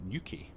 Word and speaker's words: Newquay: We're going to do a flight from Southampton to Cornwall, an airport in Newquay, I think is how you pronounce it, but I'm sure local types could correct me if I'm wrong.